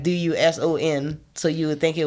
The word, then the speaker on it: Duson: Like they got a city called Dusson. but it's like Duson, so you would think it was Doosan.